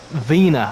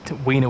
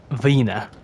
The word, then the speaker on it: Wiener: I'd spawn in at Vina I think it's called V it's definitely not WIA I know Matt pronounced it with a v as opposed to a w um yeah weener would be a funny